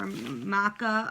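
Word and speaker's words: Macha: Then for Maca or Matcha, I've heard various pronunciations. I've said matcha since I was 14, and even if that's the wrong pronunciation, I've been saying it for 16 years.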